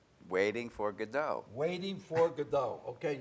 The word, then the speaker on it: Godot: Waiting for Godot. Okay, you don't pronounce the T.